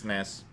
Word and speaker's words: SNES: I suppose it's one syllable versus 4, so it is a fair shortening.